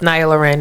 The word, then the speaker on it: Niya Lauree'n: So I don't know between the two of those but it's pronounced niaurin.